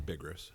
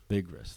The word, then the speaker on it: Bigras: That's Bigras. Bigras.